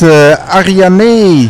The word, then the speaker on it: Arianee: All right, we're in Amsterdam at the Blockchain Expo, and we're here with Arianee. Perfect pronunciation.